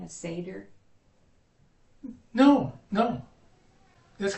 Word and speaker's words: Seder: It's called the seder.